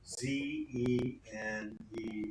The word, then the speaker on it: Zener: Zener, or it might be pronounced Zener by some people.